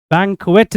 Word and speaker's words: banquet: हम इसको मिसप्रोनाउंस करते हैं बैंक्वेट. बैंक्वेट नहीं बोलेंगे, बैंक्विट.